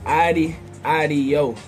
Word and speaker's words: Oddie Oddio: man the new PI y'all ever how to pronounce it telling hotter than that so 9 bro my name is ID I do that's OD d IE o DD I know